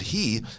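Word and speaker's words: הוא: funny word light in the place he we pronounce that word he but it's actually spelled who it should have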